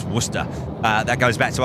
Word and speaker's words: Worcester: Dev Blue, nobody says Warester, right, Charlie? That's right. No, it's Worcester.